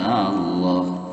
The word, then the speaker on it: Allah: harus dibaca tebal suara yang keluar pun tidak seperti bunyi a lagi ya tetapi seperti bunyi O jadi posisi lidah terangkat istilah ada di atas sambil menekan suara dengan cukup kuat kemudian pada saat pengucapan mulut seolah penuh dengan suara tersebut seperti itu lam jalalah